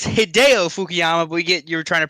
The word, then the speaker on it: Hideo Fukuyama: of Dale Earnhardt Michael who is Julio fukuyama we'll give it to you it is hideo fukuyama we get you're trying